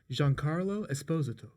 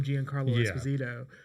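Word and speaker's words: Giancarlo Esposito: name uh that that he's Italian and his name is actually pronounced Jean Carlo Esposto. Esposto because I always had called him Gian Carlo Espazito, but apparently his name is Jean Carlo Esposto.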